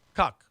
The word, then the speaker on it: KCUK: to be called KCUK, which they will never pronounce, but it's pronounced Cuck.